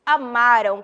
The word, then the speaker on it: amaram: já sabem a diferença passado a m amaram a pronúncia é esta eles Amarão muda a